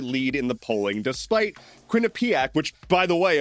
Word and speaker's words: Quinnipiac: And despite Zohran Mamdani having a double-digit lead in the polling, despite Quinnipiac, which, by the way, apparently is pronounced Quinnipiac, despite Quinnipiac putting out